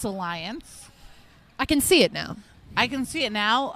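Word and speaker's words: Allyanze: well also I think we were all pronouncing it because we were looking at it phonetically it is spelled a l l y a n z e uh makes sense now it's Alliance I can see it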